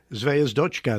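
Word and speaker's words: Звёздочка: a person, it took up, Jeff, I can't pronounce this word. Try it. Zvezhdakov. Zvezhdachka. What was it? Zvezdochka, the dog.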